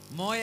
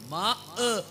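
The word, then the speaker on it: ماء: പറയാ എന്താ ബഷീർക്കാ പറയുക മോയ എന്നാണ് പറയുക നിങ്ങളീ കിതാബിലൊക്കെ നോക്കിക്കോളൂ മോയ എന്ന് വെള്ളത്തിന് ഇവിടെ എഴുതിയിട്ടുണ്ടാവും മാഉൻ തുഹൂർ എന്നൊക്കെ പറയുള്ളൂ മാഹ് എന്നാണ് അതിന്റെ ശരിയായ ഉച്ചാരണം അവര് മോയ എന്നാണ് പറയുന്നത് അപ്പൊ അവർ എഴുതുമ്പോൾ മാ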